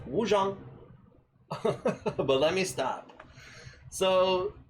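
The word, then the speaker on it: Wuchang: I'm pretty sure it's pronounced Wu Jang, but let me stop.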